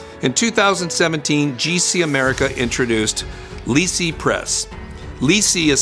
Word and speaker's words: LiSi: available to dentists in 2017 gc america introduced lysi press lysi is spelled l-i-s-i and you as you may have